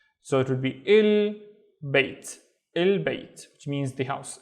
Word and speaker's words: البيت: So it would be il bait, البيت, which means the house, البيت. Let's look at this one. The first syllable starts here.